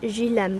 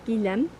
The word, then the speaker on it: Guilhem: says sangilem le desai i was pronouncing it je lem before but i think it's gilem um is a commune